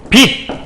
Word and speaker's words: 빛: 빛이라는 글자가 있지만 그리고 빛이라는 글자가 있지만 이 시옷과 치읓을 받침해서 날 수 있는 발음이 아니에요. 이 기역, 니은, 디귿, 리을, 미음, 비읍, 이응이라는 이 7개만 받침의 소리가 나거든요. 그래서 이건 둘 다 어떻게 발음되냐면 얘도 빛, 얘도 빛, 디귿이라는 대표음으로 발음이 난다.